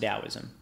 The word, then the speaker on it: Taoism: You'll sometimes see Taoism with a T in English, but it's still pronounced Taoism.